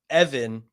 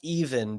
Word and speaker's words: Even: Word on the street is Matan Evan, which is should actually be pronounced even because that's how it's spelled.